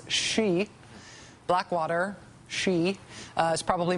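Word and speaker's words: Xe: known as Blackwater Blackwater now goes by the name we like to pronounce she Blackwater she uh is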